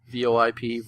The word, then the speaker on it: VoIP: It's pronounced VoIP. Voice over IP. VoIP, VoIP, same thing.